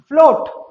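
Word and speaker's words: float: फिर देखिए इसका बी सेक्शन, जब ओ के बाद ए आए, जब ओ के बाद ए आए तब भी ए का प्रोनाउंसिएशन नहीं किया जाएगा। जैसे आप देखिए स्टूडेंट, फ्लोट, ओ के बाद ए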